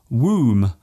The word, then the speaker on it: womb: For example, the B in comb, womb, and bomb. There is only one letter change between these words, yet they are pronounced differently.